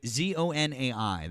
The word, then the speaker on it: Zonai: Why do you keep saying Zone 9? It's Zone 9. There's Breaking- no ein. There's just with ZONAI. That's how you say it.